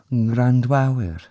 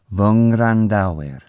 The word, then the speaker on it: Ngwrandawyr: Okay, the easiest way of saying these, even though I've just said it wrong a couple of times, is these v, which means my, and then the nasal after it.